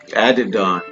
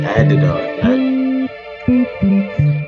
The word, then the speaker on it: Adidon: Adidon. Easy money. That's how you pronounce it. Adidon.